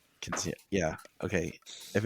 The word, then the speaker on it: Quinceañera: But Sarah is having her Casineta. Is that am I pronouncing it? Quinceañera.